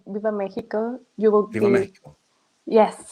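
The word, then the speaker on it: Viva México: Viva Mexico. Yes, with that tone. There you go. Viva Mexico. Right. Because I hate when they say Viva la Mexico. No, that's not how it's pronounced.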